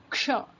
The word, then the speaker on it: क्ष: क्ष, this is k and sh together you pronounce क्ष.